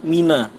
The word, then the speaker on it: Mina: Harusnya mabit di Mina, tapi dibacanya apa? Mabit di Mani. Tulisannya sama, mabit Mina sama mabit Mali itu sama tulisannya. Tapi karena dia ini nggak belajar, maksudnya dia nih belajar sendiri, akhirnya apa? Akhirnya dia diajarin sama setan. Ini bacanya Mani bukan Mina.